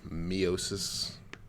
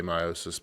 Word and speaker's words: meiosis: Miosis, people say it both ways. I will probably say meiosis because that's how I was trained. I think it can be pronounced both ways. It literally doesn't matter.